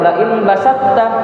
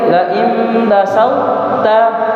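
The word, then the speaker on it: لئن بسطت: Makanya ketika kita baca ayat ini cara bacanya tidak bilang lain basatta lain basatta. Memang kalau secara pengertian diidgamkan betul kita idgamkannya ke tau cara bacanya. Laim yang benar itu lain basalta. Lain basalta tetap ada tinggal sedikit sifat dari huruf th.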